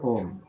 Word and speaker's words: Om: Om or the letter Om. What what are the what are the syllables of Om? A U and M.